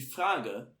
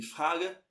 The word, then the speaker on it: Frage: Então aqui, ó, você vai pronunciar o fra, o R na garganta aqui, ó, fra. Die Frage ist wann.